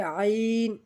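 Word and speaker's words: عين: এরপর আইন, আইন গলা চাপিয়ে ধরে আওয়াজ করতে হবে। তো আইন হলকের মধ্যখান হইতে গলা চেপে ধরে আইন, আইন, আইন। এরপর আমরা গইন, গইন যেভাবে উচ্চারণ করব গইন, গইন হলো হলকের শেষ ভাগ হইতে গইন, গইন।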